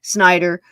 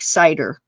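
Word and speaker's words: Seider: is 11-year-old Christopher cider some people call it Snider but uh in that German time more than likely it was more like cider pronounced from what I can pick up and he is known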